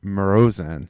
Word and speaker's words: Marozsán: Let's get the right pronunciation here. It's Dzsenifer. Dzsenifer Marozsán.